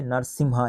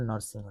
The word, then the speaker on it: নরসিংহ: সালুব নরসিংহ, একে বলা হয় নরসিমহা, ইংলিশে বলে, ইংলিশে দেখো নরসিংহ বানানটা হয় NARSIMHA, নরসিমহা, যাকে বলে বাংলায় বলে নরসিংহ, ঠিক আছে, সালুব নরসিংহ।